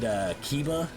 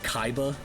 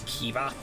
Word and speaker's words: Kiba: It was that and Kiba. I pronounced it Kaiba.